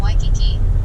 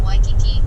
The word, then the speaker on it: Waikiki: You'll see this in the first part of Waikiki, where W. A, I is the Hawaiian word for fresh water and is pronounced Y.